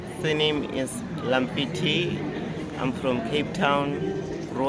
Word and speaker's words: Lamfiti: Surname is Lamfiti.